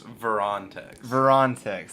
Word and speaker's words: Verontex: How do you say it? It's Verontex. Verontex.